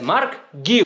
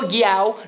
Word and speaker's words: Marc Guiu: Chelsea FC's TikTok and he actively said, you pronounce my name as Marc Guiu. So we're going to be calling him Marc Guiu. No more Guiao, no more Guiui, like the way I was trying to pronounce it.